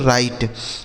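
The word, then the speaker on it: write: तो यहां देखिए डब्ल्यू साइलेंट है। मतलब इसे नहीं पढ़ा जाएगा। क्या पढ़ा जाएगा इसे? आर आई टी ई इसे पढ़ेंगे दोस्तों राइट।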